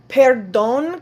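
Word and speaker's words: perdón: and senorita is Miss Peron kind of sounds like pardon and we had talked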